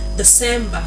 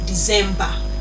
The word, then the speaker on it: December: Then the last word of the day is December, not December.